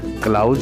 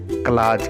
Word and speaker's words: clause: अब इसके आगे अगला जो चैप्टर आता है वो बहुत ही महत्वपूर्ण है, जिसे हम क्लाज या क्लाउज, कुछ लोग इसका प्रोनाउंसिएशन क्लाउज कहते हैं बट इसे हम क्लाज कहते हैं।